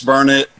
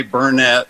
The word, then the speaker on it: Burnet: I say it right is it burnard Texas yes it's burn it don't ever say Burnet there are people around here will get after you about it I know and see